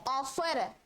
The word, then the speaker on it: offer: ठीक है, जैसे ऑफर, क्या है? ऑफर. तो इसको पूरा ऑफर नहीं पढ़ना, ऑफर नहीं पढ़ना. क्या पढ़ना? ऑफर. ऑफर. आर का प्रोनाउंसिएशन हटा दीजिए.